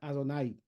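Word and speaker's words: Adonai: divino a través de el nombre al dud que se pronuncia adonay opuesto a esta piedra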